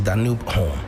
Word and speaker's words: Danube Home: I mean the e is almost expected to be silent but we accept both pronunciations. Okay. Yeah. So it's Danoo home.